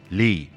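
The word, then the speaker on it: لي: English that word is made of lamb and Y pronounced Le and it's amazing we've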